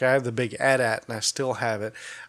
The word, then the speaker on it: AT-AT: It's the AT-AT, which is the wrong way to say it. It is pronounced AT-AT.